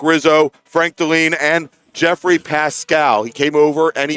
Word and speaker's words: Pascal: Let's see, we've got John Gatzmeyer, Dominic Rizzo, Frank Deline, and Jeffrey Pascal. He came over and he pronounced it for us.